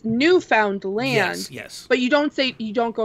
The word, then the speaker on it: Newfoundland: Yeah, so to kind of like get us like a weird segue, there's a place here called, we pronounce it Newfoundland. It's Newfoundland.